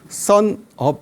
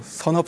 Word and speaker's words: 선업: 원래 외국 사람들은 선자로 발음을 잘 못해 가지고요 sun up 이렇게 발음을 해요 써니 태양이잖아요 업이 이런 얘기라서 제 이제 닉네임이 뜬 태양 선업 스님이에요 자 이제 벌써 뜬지 오래된 스님이라서 여러분들이